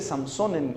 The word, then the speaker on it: Sansón: ¿Sabe cómo se dice Samsón en hebreo?